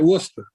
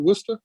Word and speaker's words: Worcester: Worcester? Worcester, yeah. Worcester. Yeah, Worcester. Just take all the unnecessary letters out of there.